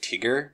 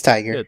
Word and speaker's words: Tiger: I will say that I was surprised with the character of Tiger, or I think they pronounce it Tigger or something like that. It's Tiger. It's supposed to be Tiger, yeah.